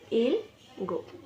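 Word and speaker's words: 일곱: योसत योसत यो सोत योसत सेवन इल्लगो इगो इल गो इल गु इल गु एक योधुल यो धुल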